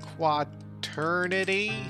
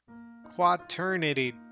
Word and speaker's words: quaternity: on sydney so uh quad eternity did i spell it wrong was it qua trinity what what did i what did i write what what did i do quaternity quat oh quack not quad gotcha i'm them generally